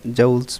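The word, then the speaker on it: joule: एतराज़ भी किया था, बट ये हमारी ज़ुबान में तो जूल चढ़ा हुआ है, तो इसलिए हम जूल्स ही बोलते हैं, बाकी इसकी प्रोनाउंसिएशन सही जूल्स है वैसे।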